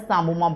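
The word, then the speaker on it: psammoma: Can you see here the calcification the calcification is known as samoma body. P is silent here.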